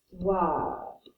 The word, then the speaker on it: histoire: We do not pronounce the H in French, remember? So this is going to be pronounced l'histoire. Kind of like star with a W in the middle of it.